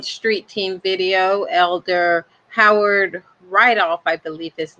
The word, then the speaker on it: Rydolph: is your name sir my name is howard rydov could you spell that for the camera please howard or rydolph